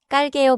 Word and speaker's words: 깔게요: 깔게요. Begins with 쌍기. So the start is tight, not breathy.